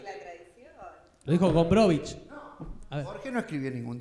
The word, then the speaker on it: Gombrowicz: ¿Por qué se pronuncia con CH y no con Z al final? Porque es polaco.